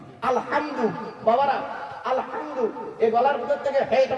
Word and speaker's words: আলহামদু: বাবারা, আলহামদু এই গলার ভিতর থেকে হেটা উচ্চারণ করবেন।